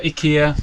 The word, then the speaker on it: Ikea: this from Ikea and or Ika as some people pronounce it and I converted